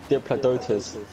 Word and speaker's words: Diplodocus: Dip. La. Doke. Oh. A Diplodocus. It's like woke, but doke. Yeah, bitch. Wait, what did you say? Huh? Did you say it wrong again? No. Diplodocus.